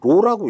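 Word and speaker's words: ρ: 그래서 이제 요걸 이제 뭐냐 그러면 로라고 읽어요. 로. P가 아닙니다. 로.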